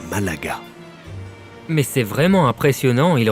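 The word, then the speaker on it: Málaga: Mais les gens de la région prononcent Malaga.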